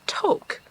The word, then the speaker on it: Tok: The bad news is, apparently, for the past how many years, we've actually been saying Tok wrong. The correct pronunciation, which we learned last night, is Tok.